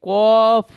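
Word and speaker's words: كاف: এখানে দেখেন কাফ এই কফ উচ্চারণ করতে গেলে মুখটা গোল করে উচ্চারণ করতে হবে কিন্তু কাফ উচ্চারণ করতে গেলে মুখ গোল আর হবে না সাধারণভাবে সাধারণ অবস্থায় পড়বো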